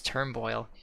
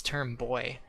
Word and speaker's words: Turnboy: I named the Whalmer Turnboil because I thought his name was Turnboil. It's not. It's Turnboy. That makes way more sense.